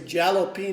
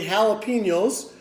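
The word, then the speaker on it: jalapeño: be having some jalapeno that's spelled with a J some people might say jalopy know it's really jalapenos and then I'm also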